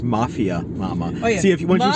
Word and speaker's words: Mafia Mamma: It's pronounced Mafia Mama.